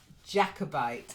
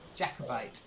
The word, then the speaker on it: Jacobite: so Nina first word Jacobite it's not like the French it's just Jacobite try it Jacobite that's it